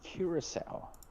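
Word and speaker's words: Curaçao: C U R A C A O Curacal. That is pronounced Curacel.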